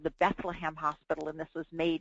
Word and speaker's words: Bethlehem: If you're a British person with a heavy accent and you say Bethlehem fast, it sounds like the word bedlam, and the word bedlam